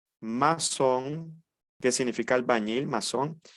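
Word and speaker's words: maçon: último la c ceville esta sedilla no existe nuestra lengua materna como el idioma español es y se pronuncia como una s Tenemos aquí la palabra garzón masón Qué significa albañil masón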